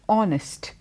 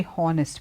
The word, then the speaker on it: honest: honor or the word honest these words are have a H but when you speak about it we don't say hornist we say honest obvious a honor okay